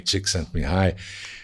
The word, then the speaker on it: Csikszentmihalyi: É engraçado porque, assim, antes de chegar nele, né, no professor Mihai, Csikszentmihalyi, e falar do Projeto Flow, é interessante, porque, no fundo, ele só é esse negócio que surgiu agora.